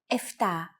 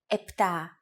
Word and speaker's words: επτά: Sometimes, though, especially in casual conversation, Greeks also use efta instead of epta, ochto instead of okto, and ennia instead of enea.